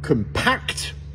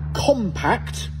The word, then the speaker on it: compact: Si je dis compact, donc j'accentue la deuxième syllabe, à ce moment-là, ça veut dire comprimé, comme comprimé de la terre, par exemple. Par contre, si je dis compact, à ce moment-là, là, on est en train de parler de quelque